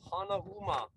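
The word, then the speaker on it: Hanauma: this mountain, look into Hanama Bay. Hanama is also, you can pronounce it Hanahuma, which is arm wrestling, right?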